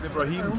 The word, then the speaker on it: Ibrahim: the community you're from uh my name is ibraim or it's i b r a h